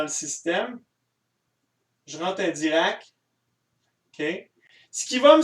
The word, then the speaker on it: Dirac: Dirac. C'est aussi simple que ça. Ça s'écrit vraiment comme ça se prononce. C'est pas QUE, là, c'est RAC.